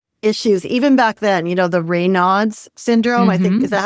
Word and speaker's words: Raynaud's: I was a teenager and I have some circulation issues even back then, the Raynaud's syndrome, I think, is that how you say it?